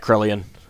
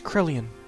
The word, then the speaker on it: Krelian: already yeah take that Karelian Ellie Faye it was krelian krelian released me krelian